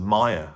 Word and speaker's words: Maya: But the Dance of Maya, or Dance of Maya, as I think is actually pronounced, That tune is more heavier, it's more darker, and it's more rooted in the blues.